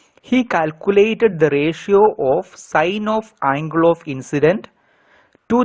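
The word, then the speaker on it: sine: you mean by sign please do not pronounce it as Sin it is sign sign is a trigonometric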